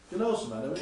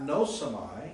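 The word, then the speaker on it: γνώσομαι: Gno is really it's not nosamai, it's gnosamai. You sort of skip over the iota, but it's gnosamai.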